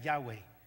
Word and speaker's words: Yahweh: dios de la salvación lo pronunciamos en español Jehová Pero es en realidad Yahweh el nombre de Dios